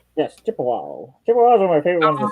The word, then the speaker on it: Chippewa: Did I pronounce that right? Yes, Chippewa.